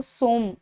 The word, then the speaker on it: सोम: तो सोमा जरूर लिखा है पर वो सोम, उसको प्रोनाउंस सोम ही किया जाता है।